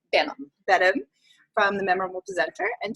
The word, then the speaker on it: Benham: Benham, from the Memorable Presenter, and she is a